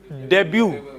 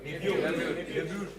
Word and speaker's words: debut: Uh, this is debut. Debut. Debut. There is no no T sound. It is debut.